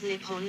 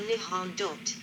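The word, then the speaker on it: 日本: The name for Japan in Japanese is written using the kanji and is pronounced Nippon or Nihon.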